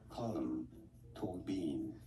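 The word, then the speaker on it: Colm Tóibín: Colum to bean. Colum to bean. Okay. Colum Bean.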